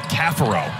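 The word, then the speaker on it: Caffaro: you get on Twitter Francisco cathero has told us that he prefers kafaro as the pronunciation the Redshirt senior from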